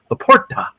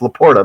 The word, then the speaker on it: LaPorta: Sometimes when they pronounce his name a little different on some of these broadcasts, Laporta. You hear this on some of it? No, it's Laporta, man.